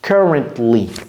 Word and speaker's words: currently: Currently. Donc la phrase devient I am currently in Mali. Et vous voyez comment je prononce. J'ai pas dit currently. J'ai pas dit tli. Donc c'est, vous avalez le T.